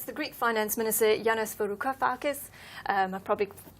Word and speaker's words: Varoufakis: Yes, that's the Greek Finance Minister, Yanis Varoufakis. I probably pronounced that terribly wrong. You pronounced it very well, Varoufakis. That's very good.